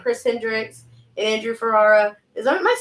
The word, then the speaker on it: Ferrara: Chris Hendrix and Andrew Ferrara. Am I saying that right? You are. Thank you. I'm just making sure. Everyone says Ferrara, but you're saying it right, and I love that.